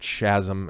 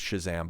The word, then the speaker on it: Shazam: Billy Batson in Chasm I like pronouncing it shasm and I know it's Shazam but whatever he came out recently